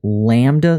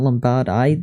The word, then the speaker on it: lambda: Oh, lambda, not lambada.